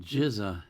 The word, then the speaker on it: GZA: And he tells me how to pronounce it. GZA is one of the 9 core members of the Wu-Tang Clan.